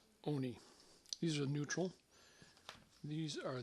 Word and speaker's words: Hoka One One: Looks like 1-1, but it's pronounced Oni. So Hoka Oni. Oni.